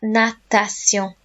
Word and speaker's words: natation: Lots of people end up saying nation with this one and they miss out the middle syllable. So it's la, nat, a, and then shun words in English are pronounced sillon in French.